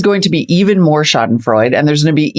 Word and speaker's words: Schadenfreude: The Schadenfreude, did I pronounce that correct? Yeah, Schadenfreude.